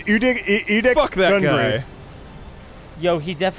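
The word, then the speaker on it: Iudex: Index Gundry? Yeah. Yes, it's Udex Fuck that Gundry.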